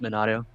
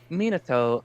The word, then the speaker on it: Minato: wrong and i'm pointed monado he took his name i've said my name like five times yeah but like he's he said his name was minato and you keep saying like no is